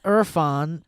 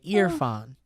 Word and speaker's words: Irfan: okay my name is Irfan pronounced ear like the body part and fawn like a baby deer okay ear fawn I'm a single Indian